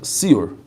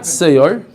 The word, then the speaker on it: siur: Now notice how it's spelled, siur. Not seyar. We were talking about seyar, which is sourdough. We're not talking about sourdough. We're talking about siur.